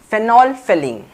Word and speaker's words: phenolphthalein: discuss here is about phenol filling phenol filling why phenol filling because the th here is silent so in case of